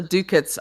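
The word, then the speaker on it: doocot: It says he says, "And all the dookits are phony." That does not that should not be pronounced dookits, but that's how it's pronounced.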